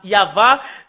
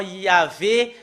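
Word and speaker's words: יהוה: Normalement, ça doit être Yahva qu'on doit le prononcer. Bah, ça a changé en Yahvé, Jéhovah ou Yahou. Bah, alors que ce sont des noms qui n'ont pas été prononcés par les Juifs, mais ce qui a été prononcé par les Juifs, c'est Yahva, et tous ceux qui prononcent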